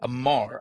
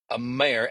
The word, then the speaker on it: Amare: not Modere, over at Amar. I'll get this out right. Over at Amare, Amare. I wish companies just had old names like Shackley, Amway, Tupperware.